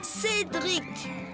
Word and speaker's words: Cédric: Moi, Cédric. Répète, Cédric. Cédric. Non, pas Cédric. Cédric. Cédric. Dric. En Chine, ils prononcent pas les R, ils mettent des L à la place.